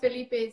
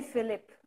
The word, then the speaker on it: Felipe: I used to say Philip. I think that's not the right way to say pronounce the name. Well, I guess in English that's how it sounds. In Yeah. Portuguese it would be Felipe, but Felipe.